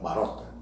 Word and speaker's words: Marota: Só voltando um pouquinho nessa questão da ação da Justiça aqui de Uberlândia, o promotor Daniel Marota, é esse a pronúncia correta?